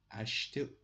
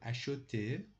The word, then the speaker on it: acheter: Acheter or acheter, both the pronunciations are are correct.